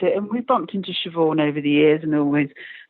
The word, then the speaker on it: Siobhan: Siobhan Fahey. See, I'm Canadian. I go Sabahin, but that's not how you pronounce it.